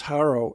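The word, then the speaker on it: Jaro: so on and though they pronounce Haro exactly the same as the English town of herrow thank goodness they don't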